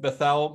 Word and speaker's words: Bethel: I have Bethel McGrew, who, yes, I was instructed that it has the Hebrew pronunciation, not the standard pronunciation.